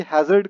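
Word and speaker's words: hazard: यही होता है और हजार्ड का मतलब भी वही होता है। प्रोनाउंसिएशन का डिफरेंस होता है। हैजर्ड इज a right pronunciation and हजार्ड इज a common pronunciation.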